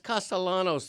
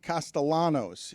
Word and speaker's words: Castellanos: It's not Nick Castellanos. The L always has to be rolled.